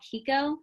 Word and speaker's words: Qiqo: It's called Kiko, and it's spelled Qiqo Chat.